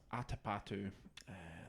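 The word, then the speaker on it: Atapattu: first names are not notoriously the most easily pronounced for us Brits. It's Atapatu.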